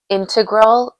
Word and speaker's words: integral: Integral or integral? Oh, you you you literally can say it either way.